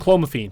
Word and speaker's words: clomiphene: that's very interesting and yeah how do you pronounce it again and calm afine and clomiphene yeah and man you're a hundred percent right